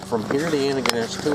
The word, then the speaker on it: Antigonish: Wait, oh yeah, so how do you pronounce Antigonish? Antigonish. Antigonish. Yeah, So Antigonish. that's right-ish, right? Right. Oh, okay. yeah, you were right.